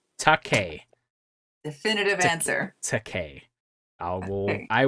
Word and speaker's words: Takei: Um, Spence George says on Twitter, it's pronounced Takei. Takei.